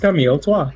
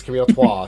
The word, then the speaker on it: Camel Toe: Yes, Pronounced Mrs. Camille Toi. Miss Camille Trois.